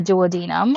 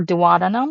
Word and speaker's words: duodenum: right there is what we call the duodenum or duodenum. There's two ways to pronounce these. I've heard it both ways, whichever ways is convenient for you. I'm used to saying as duodenum.